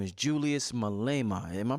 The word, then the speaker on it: Malema: revolutionary brother talking home his name is Julius Malema am i pronouncing his name right yes right right I